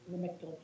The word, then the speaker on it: Lamictal: The first one is LAMISTIL. Lamistil? It's Lamictal, Cena, Okay.